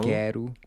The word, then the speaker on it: quero: He really lengthens this open air.